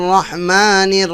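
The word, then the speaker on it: رحيم: নির রহিম হিম এ হ এর উচ্চারণ আরবি হা হবে কণ্ঠনালীর মধ্যখান থেকে রহিম আবার এখানে টানও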